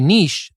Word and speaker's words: niche: It's called niche and not niche. Well, actually, it is pronounced both ways. Niche is good, niche is okay.